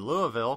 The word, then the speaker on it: Louisville: I was at the WITMIX Digital Forum in Louisville, Kentucky.